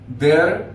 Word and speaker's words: their: Their, theirs. Entonces acá omitimos la pronunciación de la letra I. Decimos their, theirs. Un ejemplo claro de su uso.